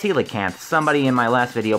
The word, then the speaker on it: coelacanth: deep-sea King coelacanth and yes apparently it is pronounced coelacanth somebody in my last video pointed that out